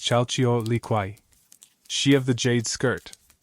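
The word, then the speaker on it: Chalchiuhtlicue: Beside Tlik stood Kyle Leu, pronounced Chaio Liquay, she of the jade skirt, the goddess of horizontal water, rivers, lakes, seas, and springs.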